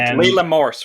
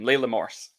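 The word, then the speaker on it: Leila Morse: wonderful she's so good leela morse we should say her name layla morse yeah big mo but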